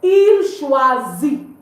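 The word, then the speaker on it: choisit: The T is still not pronounced. You simply say illazi on meaning it chooses or is choosing.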